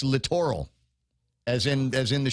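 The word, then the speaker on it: littoral: were giggling every time I said the word literal. Oh, because that's not how it's pronounced. Uh it's literal as in as in the shoreline.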